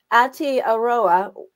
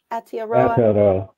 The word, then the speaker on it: Aotearoa: So I'm going to try to pronounce this again. Aotearoa. What is, am I pronouncing that correctly? Aotearoa? Aotearoa.